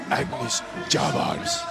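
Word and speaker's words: Agnis Čavars: Agnes Chavars.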